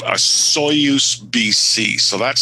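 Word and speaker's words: Osoyoos: a place called a soyuz bc so that's spelled o s o y o o s and it's a soyuz pc it's right on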